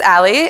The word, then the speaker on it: a11y: So this is pronounced as Ali, and you might be familiar with it if you've ever heard of I18n, because they're both alphanumeric acronyms.